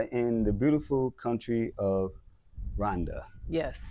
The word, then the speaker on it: Rwanda: And we are in the beautiful country of Rhonda. Yes. Not Rwanda, everybody. It's Rhonda. Yeah. The W is silent.